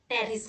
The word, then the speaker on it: Pteris: करेंगे टेरिडोफाइट्स के अंदर टेरिस के बारे में ठीक है साइलेंट होता है इसको बोला जाता है तो यह पेरिस है इसके अंदर आज की